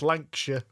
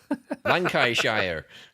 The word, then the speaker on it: Lancashire: And Jamie did call it Brass Lancashire. Oh my God, some of their pronunciations are awful. Lancashire.